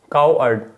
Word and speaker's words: coward: कावर्ड में अगर हम प्रोनाउंसिएशन की बात करें तो काउ तो उतना रहेगा ही, और फिर उसके बाद आपको अर्ड करके बोलना है। ये आपका प्रोनाउंसिएशन हो गया। Okay, काउ अर्ड।